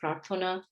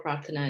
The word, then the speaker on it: Prarthana: my name's prathana pratna bengali pronunciation is prathana but there are many mutant variants of that name um circulating in this country but uh yeah prathana or paratha is fine i am senior lecturer